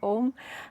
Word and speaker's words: Om: to why we chant om um and if you'd like to join me we're going to chant in three syllables today a so meet me at